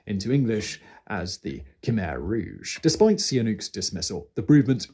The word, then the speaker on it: Rouge: English as the Khmer Rouge. Despite... Oh my days, I actually pronounced it and said, I'm dyslexic, it's Rouge, not Rogue, what the fuck?